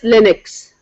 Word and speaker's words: Linux: I'm posing this question it doesn't matter whe you say Linux or Linux but the proper pronunciation is Linux right and here a